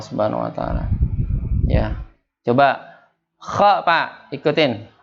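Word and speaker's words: خ: Coba kha, Pak, ikutin. Kha. Khi. Khu. Bakh. Kha. Khi. Khu. Bakh. Iya. Yaitu terangkatnya lidah, ya, terangkatnya lidah kita ketika pengucapannya.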